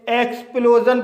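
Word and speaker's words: explosion: जाएगा इसी तरह से एक एक्सप्लोजन इस वर्ड में वाउल ओ के बाद एस आई ओ एन आया है इसलिए एस आई ओ एन का उच्चारण जन होगा इसलिए इसे एक्सप्लोजन पढ़ा जाता है तो गाइस अब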